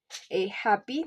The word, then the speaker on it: happy: Happy, the stress is on the first syllable because it is an adjective.